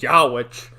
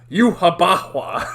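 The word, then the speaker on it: Yhwach: say his name I always thought it was yaah but they pronounce it in the in the dub it's Yaba like what the but it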